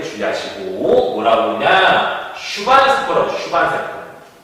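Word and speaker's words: 슈반 세포: 슈반세포. 욕하는 게 아닙니다, 여러분들.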